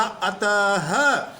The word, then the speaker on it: अतः: पृथक उच्चारण होता है हम इसको एट नहीं बोल रहे हैं इसको हमने बोला अतः प्रारत नहीं बोला प्रातः नाम नहीं बोला नमः हरिहर यानी इसका पृथक